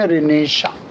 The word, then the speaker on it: Renaissance: Spelling में थोड़ा silent है, RENAISSANC, रेनेसां।